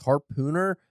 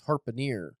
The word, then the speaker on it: harpooner: It's because I'm reading fucking Moby Dick and I kept reading it as harpooner, and then I realized there's 2 E's. It's harpooner. Oh.